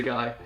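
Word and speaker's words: Ghai: I'd probably say just a guy. Just a guy. G-H-A-I. Just a guy. Yeah, maybe just a guy. Yeah, because it is like Thai, but with a G.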